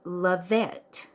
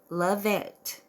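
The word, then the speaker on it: Lavette: on on YouTube um her channel name is levette and that is spelled l a v as in Victory e t t e love it um her little icon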